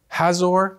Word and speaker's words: Hazor: There's Jericho, Hazor, that's how you say it.